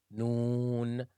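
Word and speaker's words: نون: 25th letter is no it's like the N alphabet in the English language noon noon noon noon is pronounced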